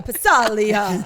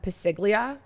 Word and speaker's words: Passaglia: is Chris called them pasiglia for years. Oh, that's right. I think as a joke. No, because he didn't know how to pronounce it. Well, it's Italian. The G is silent.